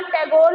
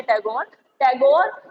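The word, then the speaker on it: Tagore: टैगोर basically कोई cast कोई जाति नहीं है, टैगोर is derived from the Thakur word, तो इनसे नहीं लिया जाता था। अब जब इनसे नहीं लिया जाता था वो उस नाम को एक खराब कर देते थे, इनसे प्रोनाउंसिएशन नहीं हुआ, तो वहां पे अब जितने भी वो हैं कास्ट वहां पे बंगाल में, उनको सब ये ठाकुर नहीं कहते, टैगोर ही कहते हैं।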